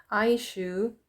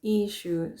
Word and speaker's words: issue: our vocabulary we can use aishu issue or aishu so the right pronunciation is issue so remember the pronunciation issue and we got also